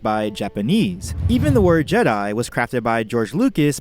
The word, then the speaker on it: Jedi: spelling of Jedi itself as it's spelled now it should be pronounced something as Jed II if we're keeping to the vowels of Japanese in Japanese the long eye is noted by the vowels a and I that's how you get